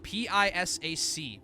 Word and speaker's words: Pisac: Yes, P-I-S-A-C, Pisac. The Pisac ruins. I know, it does sound like P-Sock, doesn't it?